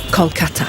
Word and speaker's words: Kolkata: of British India and now renamed with its correct pronunciation Kolkata it's got everything I